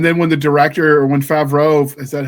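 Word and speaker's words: Favreau: singing uh and then when the director when favro is that how you say his name yeah favro found out she could actually sing he added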